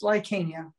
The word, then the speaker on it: Lycania: i identify as bisexual uh lacania is that how you pronounce it yeah that's yes lycania like kenya my name is lycania